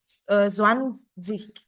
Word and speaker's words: zwanzig: Untuk tambahan aja ya, kalau dia endungnya IG itu sama aja kita bacanya itu kayak endungnya ICH atau akhirannya IG itu kita sama aja kayak mengartikan itu endungnya ICH gitu loh.